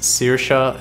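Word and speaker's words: Saoirse: Her name is pronounced Sirsha and means freedom in Gaelic.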